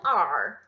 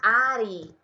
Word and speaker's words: are: útil, é o filho are. Cuidado com a pronúncia, tá? Com certeza você é iniciante. Cuidado para não falar Ari, tá? Não é Ari da Índia, não. Na verdade, você vai falar ar.